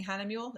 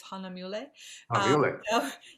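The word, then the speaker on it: Hahnemühle: Hana mule oh yeah and I learned to pronounce it correctly I was always saying Hannah mule it's Hana mule a professional it's a friend of mine Esteban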